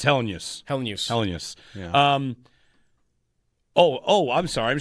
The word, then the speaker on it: Helenius: syllables. It's been He throwing me. said it. It's Helenius.